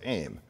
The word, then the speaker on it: AIM: messenger or more frequently by the acronym aim often pronounced as aim it competed primarily with